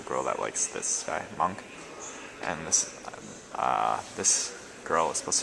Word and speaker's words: Munch: So that was the scream, and the guy's name's not Munch, it's Monk. That's how you say it apparently.